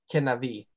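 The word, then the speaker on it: כנביא: The far as your pronunciation, this is a Shawa, so I mean, don't hit it so hard. It's just kenavi, or Okay. something like that.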